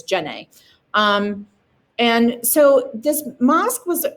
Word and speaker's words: Djenne: Mosque of Djenne, and that's how you say that. That D is mostly silent, so it's Djenne.